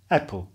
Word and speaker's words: apple: Po pierwsze, zapisujemy tam dzisiaj podwójne p, chociaż wymawiamy je pojedynczo, apple. Ale w języku staroangielskim wymawiano tam rzeczywiście podwójne p, czyli apple.